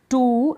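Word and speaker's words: too: टू अब ये जैसे टी के बाद डबल ओ है इसको टू नहीं टू क्या पढ़ेंगे टू कूल यानी डबल ओ का जो है हम लंबा उच्चारण यानी बड़े ऊ के रूप में इसका लंबा उच्चारण करेंगे टू नहीं टू इस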